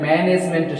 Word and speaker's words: management: And management stress is on their first syllable.